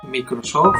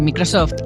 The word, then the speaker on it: Microsoft: repite la conmigo microsoft muchas veces me encontrado con gente que lo dice mal que lo pronuncian tal cual se escribe mi curso microsoft microsoft micros en